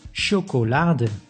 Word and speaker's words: chocolade: But it can also be pronounced as sh, like in chocolade.